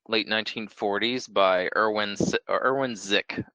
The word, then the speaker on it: Sick: 1940s by Irwin Irwin zik his last name is spelled sick but zi in German and so we've been